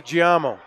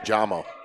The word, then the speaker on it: Giamo: Wing to Giamo. Malazzo on the wing. I think it's actually just pronounced Jamo.